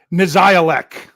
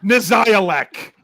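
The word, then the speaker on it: Nizialek: Because this is the one that I can't pronounce. Brian, you get the winner. Nazialek. Punter. Cameron Nazialek.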